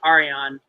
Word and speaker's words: Arjan: So if you ever get a chance to look up him, his name is Arian. I think it's spelled ARJAN, I believe. J is obviously silent.